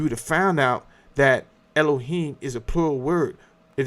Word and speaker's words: Elohim: And then you have the Elohim which the Elohim is that's how it should be pronounced.